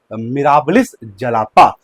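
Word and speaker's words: Mirabilis jalapa: अगर आप प्रोनाउंसिएशन सही से नहीं कर पा रहे हो तो बोलो मेरे साथ, मिराबिलिस जलापा।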